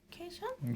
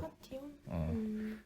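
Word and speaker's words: cation: 캐션? 그치? 나도 처음에는 캐션이라 읽었는데 아니더라고. 캐션? 카티온이라고 하더라고. 카티온?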